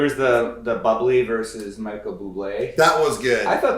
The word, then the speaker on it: Bublé: He's in a supermarket and keeps saying they're saying the name wrong. So the drink is bubbly. Yeah. Yeah. And he's like, no, it's Bublé.